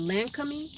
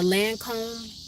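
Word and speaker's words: Lancôme: Idol this is uh that land coming or Lancome people pronounce it different ways but that's the scent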